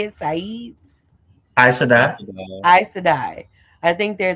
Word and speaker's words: Aes Sedai: Aes Sedai.